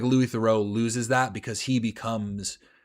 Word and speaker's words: Theroux: I'm always thinking when I'm watching Louis Theroux. Great stuff. Is it Theroux? Because I've always heard Americans say Thoreau, but I feel like I heard him say Theroux.